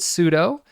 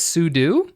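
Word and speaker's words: sudo: about pseudo now it's very important that we pronounce it pseudo and it's very important because that's how I pronounce it um you hear other people pronounce it as sudu and they'll have all these like really pedantic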